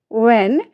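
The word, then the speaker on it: when: what देखिए what वाइट व्हेन इन सभी में आप देखिए क्या इसमें हमारी जो एच का है वहां कहीं कोई जिक्र उच्चारण नहीं है ना क्योंकि एच हमारी यहां पर साइलेंट है और ये हमारे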